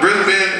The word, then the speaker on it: Brisbane: Melvin, like Melvin, but it's spelled Melbourne and Brisbane, but it's Brisbane and Melvin.